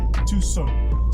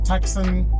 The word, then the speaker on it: Tucson: Hyundai Tucson but pronounced because Hyundai Tucson but pronounced Tucson t-u-s-o-n Tucson so let's stop calling it taxon Tucson but I don't blame you always depends